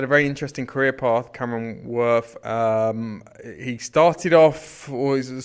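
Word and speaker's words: Cameron Wurf: Is that correct? The correct pronunciation? Cameron Worth. It sounds like something a dog might say.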